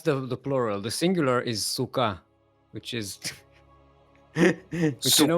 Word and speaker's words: Sukkah: The singular is Sukkah, which is which you know what it Sukkah.